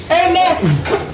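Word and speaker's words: Hermès: mga k-bus mga kpi hermes hermes hermes hermes Ernesto Ernesto hermes hermes Maeda Opo hermes baka ang pagbasa na naman niya ng hermes is hermes branded kasi yan silent h just to ano na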